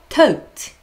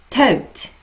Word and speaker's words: taught: 얘는요, 발음 구분해보세요. taught. taught. 다르죠? 다릅니다.